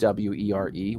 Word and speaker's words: Wyr: It's basically pronounced WERE, were.